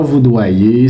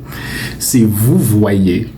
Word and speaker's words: vous voyez: doyez amis, c'est pas vous doyez, c'est pas vous doim non vous voyez vous voyez un peu le contraire de tuer. C'est pas vous doyez. Non non non non, c'est vous voyez.